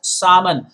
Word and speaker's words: salmon: was referring to salmon l is silent please pronounce it as salman essentially it is that